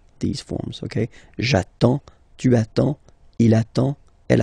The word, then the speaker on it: attends: So the first form will be j'attends, j'attends. Okay, you get D and S, well, basically you don't pronounce them, okay, and then you get only the sound attends, nasal here, en, j'attends, okay.